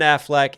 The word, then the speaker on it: Affleck: Ben Affleck me but he highlights the second syllable and Affleck instead of most of us do the a he goes Affleck me just to fit it into that one two rhyme scheme that he's doing that's